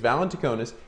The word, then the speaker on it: Valentinakis: It's Valentinakis, and he joined Siemens in 1995 and has held positions in technical support and product management.